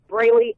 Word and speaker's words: Brely: okay fantastic and your Twitter my Twitter is brayy Evans and it's spelled b r e l y e v